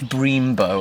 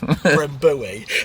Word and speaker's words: Brembo: How's it pronounced? Brembo or something? Brembo. Bremboe.